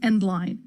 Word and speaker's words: endl: I'll explain later and standard endl which everyone I know pronounces end line because that's what it stands for and that's what caused